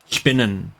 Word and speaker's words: spinnen: In German, spin is spinnen. Spinnen.